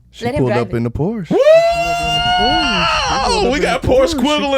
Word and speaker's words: Porsche: I used to work at Porsche.